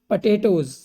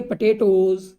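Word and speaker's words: potatoes: सम vegetables, कुछ सब्जियां, like जैसे पटेटोज, अब इसको पटाटो बहुत लोग बोलते हैं लेकिन पोटाटो गलत है, इसको बोलेंगे पटेटोज।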